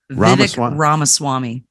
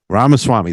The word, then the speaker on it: Ramaswamy: side via Rama swamp swamp you have to pronounce that for me Rama Swami Rama Swami thank you you know new set of lips